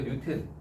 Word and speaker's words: 뉴턴: 너희의 지식의 경의를 표한다 뉴턴 예 뉴턴이 아 뉴턴이 알고 있어요 그게 그거지요 저 김공 씨 유턴이 유턴 t이야 t t이라서 튼이 읽고 턴이라고 읽는데 튼 그 뉴튼 걔가 이제 과학자이기도 하지만